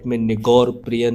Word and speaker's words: Nigar Preiyn: Nigar Preiyn which is pronounced as Nigaur Preiyn in the local dialect.